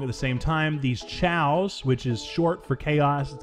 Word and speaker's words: Chao: ahead and say is Chow is the way you pronounce it tchau tchau okay that's the pronunciation